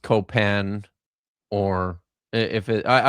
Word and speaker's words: Copan: or if it I I've always said Paul Copen but uh she keeps saying co she keeps saying copan with the with the emphasis like that on the on on the final syllable.